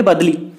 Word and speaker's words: बदली: यहाँ पे आंसर दिया गया है, यहाँ पे बदली का स्पेलिंग थोड़ा गलत लिखा गया है, BADLI, ओके, इसको हम बोलेंगे बदली।